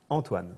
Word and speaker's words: Antoine: Antoine, but how do you pronounce it? Antoine.